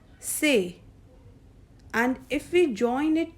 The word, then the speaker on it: c'est: So, the first one is say, C apostrophe EST, and it is pronounced as say, which means this is.